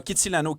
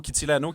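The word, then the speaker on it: Kitsilano: c'est s Auguste dans Kitty Lano Kitty Lano qui est un super beau quartier que j'ai prononcé à l'italienne pendant un bout avant de me faire dire non c'est pas italien pour mais c'est super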